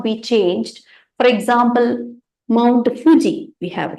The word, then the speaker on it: Fuji: that case people cannot change the way of pronunciation right it is Fuji Fu so certain important words and all know